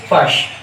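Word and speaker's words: Fuchs: This is basically a poem written by Joanna Fush, F-U-C-H-S, we pronounce it Fush.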